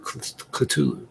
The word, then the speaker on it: Cthulhu: Cthulhu, is that how you pronounce it? Cthulhu, yeah.